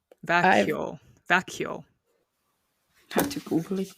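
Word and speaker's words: Växjö: It's spelled V-A-X-Y and then you'd think it would be like Vaxio, but that's not it. That's apparently not the way you say it. Vacchio.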